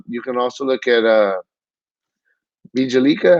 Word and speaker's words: Bjelica: I mean, you can also look at Bjelica, how you say it? The J is silent. Bjelica.